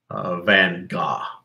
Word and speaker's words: Van Gogh: did not a god people always mispronounce his name van Gogh yeah his name is Van Gogh not van Gogh but yeah but Rembrandt